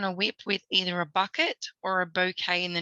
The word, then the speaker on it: Bucket: the first one is the surname bucket is repeatedly pronounced by heiken yeah as bouquet you can tell i